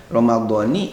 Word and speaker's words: Ramadhani: Ya, ini dijelaskan di dalam kitab I'anah ini bahwa dibacanya lafaz Ramadan itu dengan kasroh nunnya karena diidofatkan kepada isim isyarah, yakni setelah Ramadhani hadihis sanati, kan ada lafaz hadihis sanati.